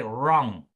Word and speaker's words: wrong: We say wrong. We start there with that word. So the letter W is a silent letter.